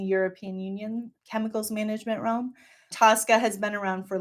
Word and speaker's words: TSCA: So the Toxic Substance Control Act, which is often the acronym is often pronounced TSCA, is the premier chemicals management regulation in the United States.